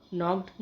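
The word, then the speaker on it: knock: jumped Dastak देना नौ नॉक नॉक्ड नॉक्ड इसमें के साइलेंट है तो इसलिए हम इसकी प्रोनाउंसिएशन है नॉक उधार देना लैंड लेंट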